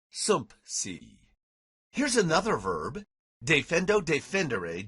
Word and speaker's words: sumpsi: It's hard to say sumsi without inserting a P, sumpsi.